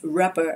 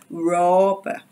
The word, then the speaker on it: rob: robbery again don't forget don't pronounce this as rubber okay it's rob rob so what are the